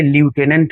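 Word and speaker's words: lieutenant: एम ये आपका answer हो जाएगा नेक्स्ट देखिए ल्यूटेनेंट की स्पेलिंग हमसे पूछी गई है तो लटिनेंट की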